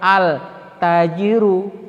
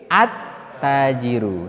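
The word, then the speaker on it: التاجرُ: boleh juga ya ah kita membacanya bukan altajirun tetapi attajiru sehingga dapat kita simpulkan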